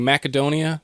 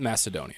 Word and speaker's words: Macedonia: from also quick note I'm saying macadonia people say Macedonia that's just that one's just flat out wrong it's not Macedonia okay I was going